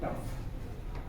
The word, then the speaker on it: trough: आप ये राइट, आप घर में ये डेली यूज करते हैं, मगर कुछ थोड़ा टफ। आर जो इतना प्रोनाउंस नहीं होता है इंग्लिश में, TROUGH जब